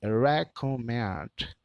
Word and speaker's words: recommend: O R com o som de R, o E de E, o C de K, o O de U. O restante tudo tem o mesmo som da escrita. Então nós enrolamos a língua na letrinha R.